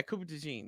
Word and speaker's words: Cooper DeJean: Now I know that they got Cooper DeJean. Is that how you say his name? Yeah, Cooper DeJean. Yeah, it looks how you say it.